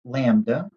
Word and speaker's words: lambda: general so we have this greek letter that's pronounced lambda and it represents the wave length for a